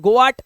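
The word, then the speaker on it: goat: और इसी तरह से जी ओ ए टी हम पढ़ते हैं गोट गोट पट कुछ नहीं है ये सिर्फ जी ओ टी क्या पढ़ोगे गोट बस ये गोट ही है ये ए साइलेंट है बात खत्म इसीलिए इसे गॉट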